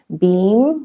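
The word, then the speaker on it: Bim: So it's Om Beam, like B-E-E-M, or if you spell it also B-I-M, so beam, like you're beaming, Namaha.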